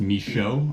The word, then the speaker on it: Michaud: And yeah, so it's pronounced Michaud or Michaud. A lot of people think it's Michaud or Michael or Mikachad or something like that, but so it's Michaud.